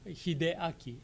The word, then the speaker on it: Hideaki: How do you pronounce his name? Oh, Hideaki. Hideaki. Hideaki.